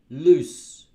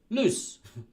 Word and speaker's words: loose: pants were B loose now listen to the pronunciation between a and B um lose lose loose so this one's longer it's like 1-0 but it's longer lose this one's got two o's but it's shorter English loose loose yeah that's the